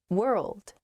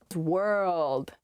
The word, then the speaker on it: world: express myself more clearly world world ah i see why this one's hard world world hard to pronounce that rld i think uh together